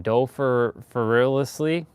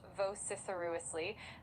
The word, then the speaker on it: vociferously: Are you saying dociferously, or are you saying something else? Because it starts with a V, not with a D. You're absolutely right. My apologies for that. It's pronounced vociferously.